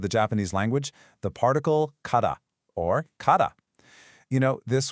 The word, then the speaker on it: から: And the answer to that question we just asked, it lies in this single really powerful particle, kada, pronounced kada.